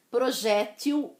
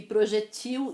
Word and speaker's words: projétil: Projétil, projéteis no plural, e projetil e projetis também no plural. Existem as duas pronúncias.